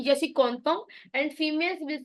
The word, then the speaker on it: content: Males will say je suis content and females will say je suis contente.